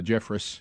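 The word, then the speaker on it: Jeffress: Robert Jeff, uh Jeffris is actually how you say his name out of Texas. I've called him Jeffre for years.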